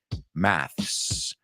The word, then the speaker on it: maths: And a quick reminder, the British say maths. Americans say math without the S.